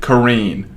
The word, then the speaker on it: Corinne: Anyway, her name is Corrine, but it's spelled Corinne. He doesn't freaking care. But it's spelled Corinne, and she pronounces it Corrine.